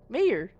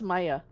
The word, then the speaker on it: Meyer: Oh, Meyer. Mayor. But it's pronounced Maya.